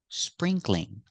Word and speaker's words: sprinkling: If it's raining a little, you can say it's sprinkling. Remember, 2 syllables. Spring, cling. It's sprinkling outside.